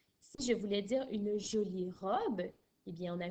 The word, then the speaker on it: jolie: Et le E de joli, il est muet, je ne l'entends pas.